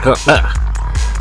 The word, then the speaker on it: Kahuku: Look at this. Kind of like closer to actual Hawaiian pronunciation. Kahuku.